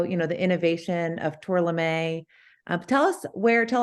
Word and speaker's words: Tourlami: we had the conversation pronounced incorrectly tournament right so everyone knows on the call it's tour Lemay uh plant B yeah